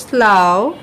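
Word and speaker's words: slough: রো এরপর বলছে হচ্ছে স্লাও হ্যা এটা হচ্ছে একটু আকারের মত করে হালকা করে উচ্চারণ হবে স্লাও হ্যা আবার এটা বলছি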